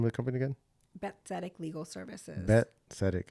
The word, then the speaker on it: Bet Tzedek: Bet Tzedek Legal Services. Bet Tzedek. I know it's spelled with a T though. BET, Bet, and then Tzedek, TZEDK to Hebrew.